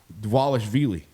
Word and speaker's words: Dvalishvili: Merab Dvalishvili. How about that? That's really correct good pronunciation.